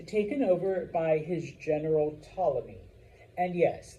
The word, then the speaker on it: Ptolemy: over by his general Ptolemy. And yes, like most Greek words and names, the P is silent.